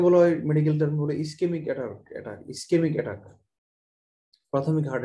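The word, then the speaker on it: ischemic: ইসকেমিক attack, প্রাথমিক heart অ্যাটাককে বলা হয় ইসকেমিক heart attack, ইসকেমিক attack. কিন্তু ইসকেমিক, কেমিক বানানটা সিএইচ দিয়ে, এই জন্য অনেক ডাক্তার এটাকে ইসচেমিকও বলে, কিন্তু আমি ইসচেমিকের পক্ষপাতী না।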